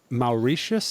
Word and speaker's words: Mauritius: And then, so you're from Mauritius, is that the right way to Yeah, pronounce I that?